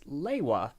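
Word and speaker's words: Lewa: he figured okay so they think it's leia and spell l-e-w-a so it's we we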